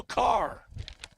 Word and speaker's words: Karrer: And to number 17 it is, Bo Carr. Carver? Well, this is pronunciation I got from Tiff last week. Car. Got it.